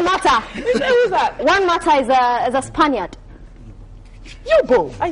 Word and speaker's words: Mata: Nata. That's the name? Nata. Yeah. Are you sure you're pronouncing it? Yeah. Mata.